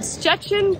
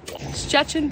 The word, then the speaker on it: Szczecin: Good morning from Szczecin, Poland. I think we took about 5 minutes to figure out how to pronounce this word. I don't think it's still pronouncing it correctly. It's spelled crazy. Szczecin, Poland.